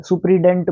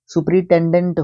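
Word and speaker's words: superintendent: सम मंस होता है सुपरिटेंडेंट भाई बोल तो देते हैं सुपरिटेंडेंट बट क्या होता है सुप्रिडेंट बोलते हैं कई तो है ना सुपरिटेंडेंट होता है ये और दूसरी बात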